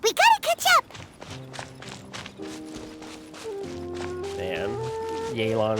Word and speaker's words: Yelan: gotta catch up man yaylon is so like it looks like jalon to me but it's a long a sound yay take it easy yeah